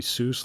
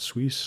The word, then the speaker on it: Suess: Might be Seuss, like Dr. Seuss, but I think you pronounce it Suisse, Hans Suisse.